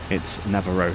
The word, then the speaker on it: Nawaro: And, you know, it's more of a V sound than a W sound, because that's just the way the Germans pronounce their W's.